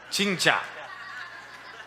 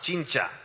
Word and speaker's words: 진짜: Chicha. 진짜. Chincha. It's a real smile. Chincha.